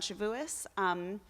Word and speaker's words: Shavuos: So each year around Shavuos, which I say the Ashken normative way, because that's how Grandpa Al says it. Plus, it sounds way cooler than Shavuot. Shavuot is hard for me because you have to go hard on the ah.